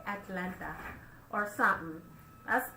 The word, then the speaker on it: Atlanta: Savage Talk is back in the A-Town, Atlanta. How come y'all don't pronounce no T's and you don't? Atlanta. Atlanta Pride. It ain't Atlanta Pride. It's Atlanta Pride.